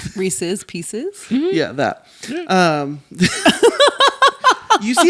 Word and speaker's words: Reese's Pieces: how it's pronounced like I know how it's supposed to be like re say pieces Reese's Pieces yeah that um you